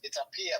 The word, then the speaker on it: Aaya: your name is it aaya how how do you pronounce it it's AIA but you know AIA AIA so I'll just say double A in hey but I mean I